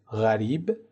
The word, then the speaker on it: غریب: جور هم تلفظ میشه اما در عربی اینجور نیست در عربی اولی به صورت غریب و دومی به صورت قریب تلفظ میشه پس لازم به تذکره